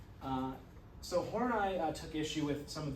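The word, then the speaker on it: Horney: So uh one example of a Freud and his Karen and the name isn't pronounced like it looks like it should be. Uh it's pronounced Hornai. Uh so Hornai took issue with some of the sexism in Freud's theory.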